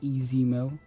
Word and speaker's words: Ez Mil: also just like to correct uh the pronunciation of my name it is easy mill this is a male